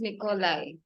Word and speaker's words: Nikolay: Nikolay.